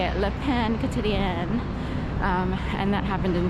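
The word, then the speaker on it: Le Pain Quotidien: If you were to phonetically just look at it, you could say the pain potion, but it's French for the daily bread. So, and I kind of forgot my French. I had to relearn how to say it.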